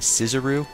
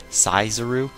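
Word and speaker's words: saezuri: flashback about something called the sciseroo not scissor of like the scizoru i would pronounce it right it's s-a-e-z-u-r-i and apparently kabuto probably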